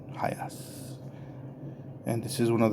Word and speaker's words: HiAce: guess highest Toyota hiace I'm pretty sure that's how it's pronounced not high Ace but hi ass and this is one